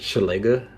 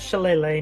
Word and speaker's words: Shillelagh: That's how I pronounce it. Shillelagh.